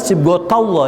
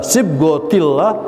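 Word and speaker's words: صبغة الله: Ini dibacanya sibghatullah ya. Ini karena kedudukannya menjelaskan ayat sebelumnya. Tapi dalam pembicaraan kita bisa menyebutnya sibghatullah. Nah, ini perlunya kita belajar bahasa Arab ya. Bisa dibaca sibghatullah, bisa sibghatillah, bisa sibghatullah.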